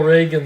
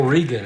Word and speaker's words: Regan: Phil Reagan, the righty. Ron Peronowski, the left-hander. Phil Regan, actually. I'm sorry, I mispronounced that.